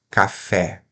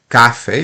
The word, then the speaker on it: café: vamos lá olha só oxítona é quando nós temos a vogal na última sílaba café certo então a tônica a tonicidade recai no fé e não no k né senão falaríamos Cafe a me dá uma xícara de Cafe não dá certo tem tem que ser uma oxítona café paroxitona a sílaba